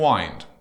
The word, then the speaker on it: wind: So here we have wind and wind. It's exactly the same spelling, but very different pronunciation. Wind is something that blows through the air, and wind is to wrap something and make it tense.